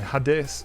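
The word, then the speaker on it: ha det: And hade kind of sounds like a headache, but you don't finish the word.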